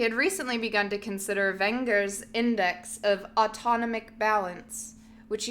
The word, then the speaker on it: Wenger: He had recently begun to consider Wenger's He had recently begun to consider, I can't decide how to pronounce the W. W-E-N-G-E-R, Wenger's index. Wenger's index, yeah. German W, Wenger.